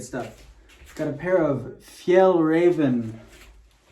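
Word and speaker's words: Fjällräven: got a pair of Fel Raven That's how you pronounce it Fel Ren uh shorts that's actually how you pronounce it if you check online uh if these were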